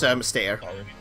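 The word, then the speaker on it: Mystère: I don't know how to pronounce that, but sorry, correct me. It's Mystere. Okay, St.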